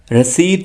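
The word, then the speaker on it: receipt: paper basket register register रसीद book जिसे रसीद काट कर दी जाती है यह वो वाली बुक है और इसे इंग्लिश में कहते हैं रिसी बुक रिसी बुक आपने पी को नहीं पढ़ना है रिसी बुक स्याही इंक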